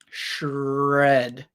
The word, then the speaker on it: shred: shredded um but pronunciation shred so sh then add the color red red there's nothing red here um red but put sh first shred it shredded shredded